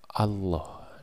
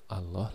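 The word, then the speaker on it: الله: ketika situasinya seperti Demikian maka huruf lam pada lafal Allah itu kita bunyikan menggunakan kosakata ko Allah seperti contoh yang tampil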